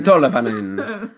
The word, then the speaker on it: Tolvanen: Tolvanen.